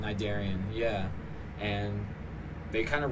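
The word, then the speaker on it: Cnidarian: Uh Nidarian. There's a C silent C in front of it. Um a lot of people can't pronounce it correctly. It's all right. But, um yeah, Nidarian.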